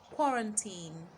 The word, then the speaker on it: quarantine: Quarantine, quarantine. Swamp, swamp. Squander, squander, squander. And the last one, swallow, swallow. Now there are several words spelled with the letter A making the sound O, but you will hold